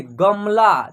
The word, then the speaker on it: गमला: देखिए उच्चारण करते वक्त उसमें ये जो म है इसका उच्चारण क्या हो रहा है? आधा हो रहा है। देखिए गमला, ठीक।